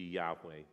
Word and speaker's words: Yahweh: why H wh and that has led to different translations to the year Jehovah you might have heard that that's an attempt to try to to figure out how to pronounce this name and also probably most closely to the original would be Yahweh but the Jews were